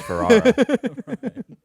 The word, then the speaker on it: Ferrera: I'm Ferrera, spelled Ferrara. And pronounced Ferrara.